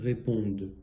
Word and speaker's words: répondent: Hein, même chose que d'habitude, ce ENT à la fin ne se dit pas. Il fait comme si, en fait, c'était un E muet à la fin. Donc le E muet ne se dit pas, mais sert à prononcer la consonne qu'il y a avant. Donc ils, elles répondent.